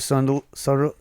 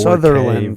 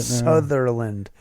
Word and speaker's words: Sutherland: Yeah, from what I remember, Kiefer Sunderland. How do you say it? Oh, you can get a 4K Sutherland. version of it now. Sutherland.